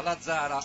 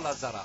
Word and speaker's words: Lazzara: che si è prestato ad andare a chiedere allo scout della Volley Valley, si chiama Lazzara e non Lazzarà. Ok, Abbiamo tolto l'accento, perfetto. abbiamo tolto come papà e papa.